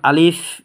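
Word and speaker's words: ألف: ইনশাআল্লাহ আমি দেখিয়ে দিব যেমন আলিফ এটা আপনারা গলার প্রথম অংশ থেকে এবং ঠোঁট এবং দাঁতের সমন্বয় ইনশাল্লাহ আপনারা উচ্চারণ করবেন অর্থাৎ উপরের দাঁতগুলোকে নিচের ঠোঁটের পেটের সাথে ইনশাল্লাহ আপনারা লাগিয়ে দিবেন আলিফের মধ্যে টান দিবেন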